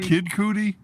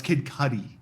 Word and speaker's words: Kid Cudi: talking about doing this kid cootie no that's kid cudi cudi i can never remember